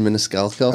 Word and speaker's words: Maniscalco: Sebastian Maniscalco.